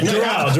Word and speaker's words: Doral: I'm at I've been saying it wrong all day. Doral. I'm at Daryl.